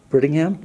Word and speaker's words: Brittingham: and is it pronounced Brittingham yes me pretty her sorry